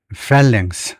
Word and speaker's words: phalanx: phalanx라고 읽을 것 같은데 발음서부터 그래서 거기 보면 우선 발음이 어떻게 되냐면 phalanx 앞에다 음절을 두네요.